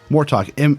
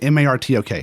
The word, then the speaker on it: Martok: Martok. Martok. M-A-R-T-O-K. Oh, okay, Martok. I was like, Martok. It's more talking. Yeah. Like what we're doing right now.